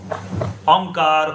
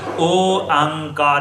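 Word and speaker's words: ਓਅੰਕਾਰ: We say that word Oankar, some people say Onkar or Yonkar or Ekamkar, but that's wrong. It's described as Oankar, it's 3 syllables.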